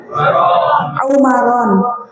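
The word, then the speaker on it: عمران: Ini bacanya apa? Imron, Amron, Umron, apa nih? Umaron.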